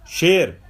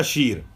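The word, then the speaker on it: شیر: शेर, फारसी का शीर। शेर ना कहें, हम शीर कहें। फारसी में तलफ़ुज़ जो प्रोनाउंस है वो शीर है।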